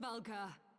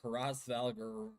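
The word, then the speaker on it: Hraesvelgr: Raalgar. I wouldn't have not pronounced that name right guys. I would have said Haras Valer.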